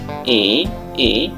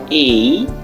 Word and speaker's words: A: এই বর্ণটা শিখিয়ে থাকি আমরা বলি যে এ না এটা সঠিক না আমরা যদি শিখাই আমরা শিখাবো এভাবে এই মানে হচ্ছে যে এর পরে একটা ই সাউন্ড আসবে এই এইটা হচ্ছে যে